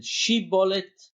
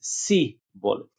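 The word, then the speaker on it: shibboleth: One of them said shibolet, and one of them said si-bolet.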